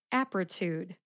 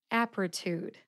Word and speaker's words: Apretude: three syllables aptitude aptitude the first syllable app gets the emphasis let's see if you can hear it aptitude aptitude how did I know